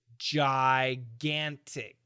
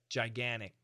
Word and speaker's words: gigantic: the perfect pronunciation is gigantic and what did he say he's an American he said gigantic gigantic and he cancelled out that T sound and he canceled the